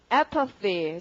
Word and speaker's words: apathy: 그 다음 단어 발음은요. apathy. 자, 강세가 앞이고, 자, apathy 딱 보면은 path라는 스펠링을 보는 순간 이제는 이것이 감정이다라는 것이 분명해지는 거죠.